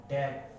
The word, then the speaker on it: debt: Silent हो जाता है। ये वर्ड देखिए, डाउट, डेट, है ना, डेटर।